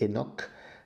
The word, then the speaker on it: Enoch: Il s'agit de Enoch, Chanor dans la prononciation hébraïque et Enoch dans la prononciation grecque.